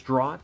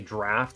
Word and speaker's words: draught: this is draught, and I think it sounds cool as draught, but it's apparently draft, and I don't want to keep getting corrected on it, so I'm going to both click it and say it correctly.